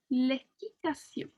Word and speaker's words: équitation: Je fais de l'équitation. Okay, so it has like that sion sound at the end, okay? That T-I-O-N, sion.